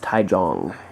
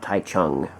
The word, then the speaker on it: Taichung: And yes, it is pronounced Taichung, not Taichung.